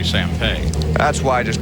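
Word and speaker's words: Sampey: And just to explain it, while it's spelled S-A-M-P-E-Y, it's really Sampay.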